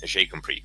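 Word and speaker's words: GCompris: Or J'ai compris, spelt G-compress, but it's pronounced in French J'ai compris, which, if you know your French, means I understand.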